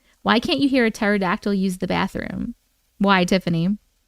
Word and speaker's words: pterodactyl: Why can't you hear a pterodactyl use the bathroom? Why, Tiffany? I'm waiting for the answer. Someone here remembers Moco Space? Because the P is silent.